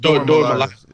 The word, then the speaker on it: Dora Milaje: I love the Dora Jami. Is that how you pronounce that whole like Dora Milaje? Dora Milaje. Yeah, that's what it is.